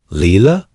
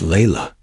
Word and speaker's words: Layla: Layla? Leela? It's Layla, she whispered, but no one cared.